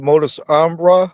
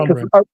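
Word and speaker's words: modus operandi: Because that's what they call the modus ombra, if I Mhm. pronounce it right, Yeah, which is modus with it. operandi.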